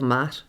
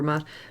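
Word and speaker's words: Maat: And if you remember before, we spoke about the feather of Mat. Do you remember Mat? Mat is... Mat is spelled M-A-A-T, and Mat is the feminine aspect of Thoth, as we have in the Ogdod here.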